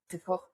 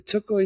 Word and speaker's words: txoko: Txoko. That's what did you talk about that? Yeah. Oh, okay. So txoko, it's spelled Txoko. In Basque language, we have 3 types of writing sound: TX, TZ, and TS.